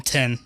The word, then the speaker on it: Thien: from the South that don't pronounce tin as tin. They say 10. They literally say the word as 10 both ways. And I'm like, wait, all right, what's the number? Like 10. I'm like, how do you say my name? 10. I'm like, that sounds exactly the same.